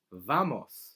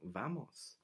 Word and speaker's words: vamos: common another common expression used a lot is vamos like let's go let's go vamos vamos alright W in Spanish is Doble ooh that's